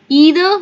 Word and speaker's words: either: we have the UK we have the British and then we have our Indian okay so depending on which of the essence you're used to we can say either or you can say